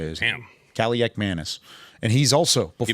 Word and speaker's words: Kaliakmanis: Ethan Kaliakmanis for Rutgers is how you say it. Damn. Kaliakmanis.